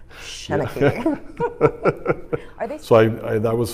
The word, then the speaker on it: Shanachie: I was like, I want to make a shirt that says it's pronounced Shanachie.